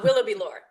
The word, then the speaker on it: Willoughby-Lohr: I'm pronouncing okay. Uh Willoughby Lore. Yeah. Willoughby Lore.